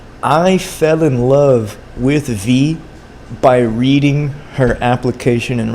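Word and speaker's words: Vy: Their name was V-Y, like just V-Y. You pronounce it V.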